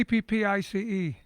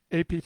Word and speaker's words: Appice: How do you pronounce the band name? Which band name? This name. This name. We just say APPICE. It's only three. APPICE.